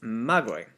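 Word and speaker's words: μάγοι: Except I probably should say magoi, because it has an acute right here. And it's not actually part of the letter, but it's part of how we stress the word when we say it.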